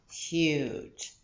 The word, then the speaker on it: huge: the letter j j so this e where it is making the g soft so this is saying j huge and if you think